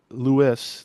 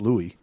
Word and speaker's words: Louis: Louis varland who's apparently going by Louis like St Louis now although as someone pointed out that could still be pronounced Louie right the French the